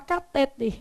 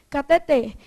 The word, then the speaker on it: cateter: Os médicos querem falar catéter, mas o certo é cateter.